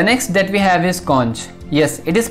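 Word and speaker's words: xonsh: a look the next that we have is cons yes it is pronounced as c-o-n-c-h conch you can think of conch as a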